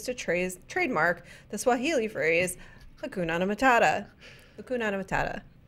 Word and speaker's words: Hakuna: I feel like you're adding an It's extra a syllable. Hakuna Matata. Hakuna Matata. There it is. Matata. Hakuna Matata. I think if they added- like banana, like hukunana, and it's just hakuna.